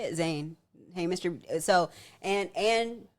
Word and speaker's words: Zayn: Zayn.